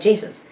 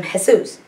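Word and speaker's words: Jesús: j-e-s-u-s you know like jesus but we would all call him jesus he was called jesus because that's how they pronounce it the j is pronounced like an h so you know you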